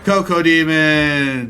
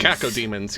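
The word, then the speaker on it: Cacodemon: Coco Demons. Caco Demons, yes.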